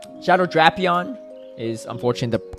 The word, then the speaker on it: Drapion: definitely not I haven't either all right Shadow drapion is unfortunately the correct pronunciation not drapion it's officially pronounced drapion for the Pokemon company which I hate too